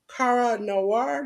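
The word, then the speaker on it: Kara Noir: week okay our first Spotlight we had was Cara Noir that's how you pronounce it Jes that's right that was on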